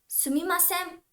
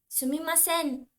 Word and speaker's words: すみません: be like okay and some people also pronounce the last sound as n while some pronounce it as m so they be like sumimasem sumimasen it can be either